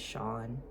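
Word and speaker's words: Sion: My name is Sean, and it's spelled S-I-O-N.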